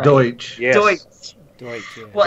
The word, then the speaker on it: Deutsch: Deutsch. Yes. Deutsch. Deutsch. Yeah. Well, anyway. Yeah, and when you're speaking it, it kind of sounds like Dutch.